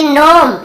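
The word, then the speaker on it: gnome: यहाँ पर भी जी साइलेंट है। यहाँ पर देखिए नोम, यहाँ पे जी लिखा हुआ है सामने, लेकिन हमें केवल इसे नोम पढ़ना है, जी को नहीं पढ़ना है।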